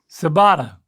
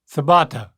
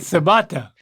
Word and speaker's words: ciabatta: this one still edible sabata um maybe that's how I would have said it too but I do know that that's not right okay not no surprise